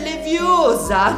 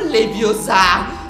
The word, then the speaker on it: Leviosa: Numero 2, la pronuncia dell'incantesimo è sbagliata. È leviosa, non leviosa.